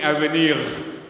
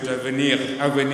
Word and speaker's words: avenir: and I asked her, can you help me pronounce this word? And she told me AVENIR. And I did practice a bit, AVENIR. Any French teachers in the audience? Yeah, French teachers? French? Yeah, AVENIR.